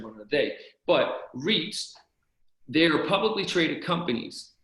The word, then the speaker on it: REIT: it okay so investment strategy number one uh reits r-e-i-t it's an acronym that stands for it's